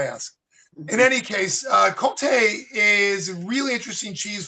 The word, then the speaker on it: Comté: So, uh, Conte.